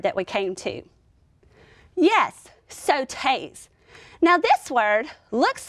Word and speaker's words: sautés: Yes, sautés. Now this word looks like it would be pronounced like sauces with an aw sound. But in the French language, they would pronounce this with an O sound, sautés.